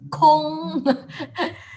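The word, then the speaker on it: 空: This is pronounced as gong, and this is pronounced as a kong.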